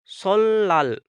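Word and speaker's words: 설날: पढ़ेंगे तो यह बन जाएगा शिला इसी तरह सोल नाल सोल नाल है तो इसको पढ़ेंगे सोल लाल सोल लाल सोल लाल इसी तरह अब यह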